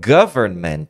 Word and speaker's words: government: com essa palavra e o segredo é quebrar a pronúncia Então government você fala primeiro govern govern é um som não é government não é go go é government então primeiro govern govern the govern the govern government aí depois você vem